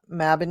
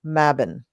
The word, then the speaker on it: Mabon: mabin here yes um so mabin has many pronunciations now the witch that I work for up at the Renaissance Fair is a I mean she's only like 10 or 12 years older than me but she seems like the quintessential Crone you know she has long white hair and beautiful you know like uh she's just it she is it and uh she pronounces it mabin but she is a